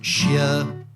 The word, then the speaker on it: Hsieh: HSIEH in this ridiculous setup is pronounced Shia.